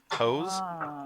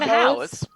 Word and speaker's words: Howes: Hose? It's not Hose. Sally Ann Howes.